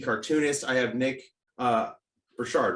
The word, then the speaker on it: Burchard: i have nick uh burchard right is how you say it yeah cool i probably